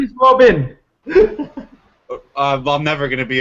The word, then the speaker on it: Robin: I thought you said Robert, but it's Robin.